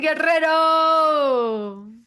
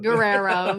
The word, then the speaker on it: Guerrero: Thank you so much for having me and thanks for pronouncing my name that way. I can't even roll my Rs, so I'm glad you do them for me. I'm just like Guerrero. Guerrero.